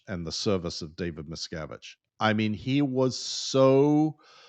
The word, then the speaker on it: Miscavige: You know, I, on the other hand, he was pretty clear about David Miscavige and the service of David Miscavige.